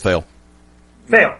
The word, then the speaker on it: Fale: Fale. Yeah. I mean, you got him. Is it Fale or Fail? I thought they said Fail, but... Eddie, do you remember how the name's pronounced? It is Fail.